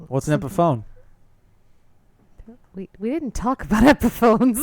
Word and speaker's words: Epiphone: What's an epiphone?